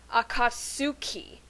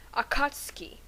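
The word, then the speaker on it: Akatsuki: episodes of Naruto chutin I realized that the U is silent so therefore it must be pronounced akatski and if you think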